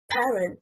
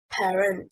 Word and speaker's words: parent: Parent, stressing on the first syllable, means a father or a mother. Parent, stressing on the second syllable, is incorrect.